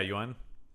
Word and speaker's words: Yuan: But I will say the problem is the movie doesn't spend any time with uh Roger Yuan. Is that how you pronounce his name? Roger. Yeah. Yuan.